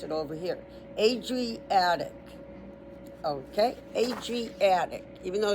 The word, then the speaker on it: Adriatic: Long a so it's making a long a and then dr and then a long e and then attic. So, it's Adriatic. That's how you pronounce it. Adriatic.